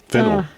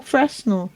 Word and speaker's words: Fresnel: That was a Fresnel. Fennel. No, Fresnel. Fennel. That's why it's a French name. That's why it was named after the inventor of the lens, Augustin Fresnel from France.